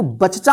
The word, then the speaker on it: बच्चा: चा इसको क्या पढ़ेंगे बच्चा इसको बचचा मत पढ़िए बच्चा ध्यान रखिएगा बच्चा बच्चा